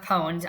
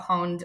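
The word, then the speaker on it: pwned: I mispronounced the word and um it's I mispronounced poned. I didn't know that pon was spelled pwn ne because I don't I'm not a gamer. Um, I thought pawned was like P n.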